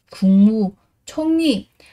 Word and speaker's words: 국무총리: Cờ mà gặp mờ thì cờ sẽ được biến đổi thành là ngờ. Và ở đây chúng ta sẽ đọc là gì? 국무총리. Yên mà gặp với cả riêng như này ạ. Thì cái từ riêng sẽ chuyển thành niên và chúng ta đọc là gì? Chung nhì.